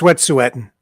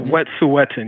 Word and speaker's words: Wet'suwet'en: that happened that really disturbed me is that Wet'suwet'en protesters, right? Mm-hmm. You see, Wet'suwet'en. Pardon me? No, it's Wet'suwet'en. It is. He's got it right. Yeah, Wet'suwet'en.